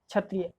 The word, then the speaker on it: क्षत्रिय: का हिंदी भाषा का एंड इसको हम लिखते हैं के एस H plus T आर वाई ए क्षत्रिय अब आप कहोगे कि इसमें के साइलेंट है अगर हम यही यही शब्द कोई इंग्लिश पर्सन पढ़ेगा तो वह समझेगा इसमें के साइलेंट है क्योंकि क्षत्रिय बोल सकता है वो उसको जबकि हम जानते हैं कि हमारा एक ही अक्षर इन तीनों के कॉमिनेशन से बनता है इसी तरह से